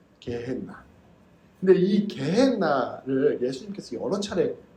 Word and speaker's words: 게헤나: 말씀드렸죠 개벤 흰놈 스트 이게 개벤 놈이라고 불 는데요 이거를 그리스 그리스식으로 발음을 바꾸면 우리나라 뭐 모택동을 마조동 이렇게 바꾸는 것처럼 마저 보통 이렇게 바꾸는 것처럼이 게이벤 흰 놈을 그리스식 표현으로 바꾸면 어떻게 받음을 하냐면요 게해 나라고 부릅니다 게헤나 근데이 게헤나 예수님께서 여어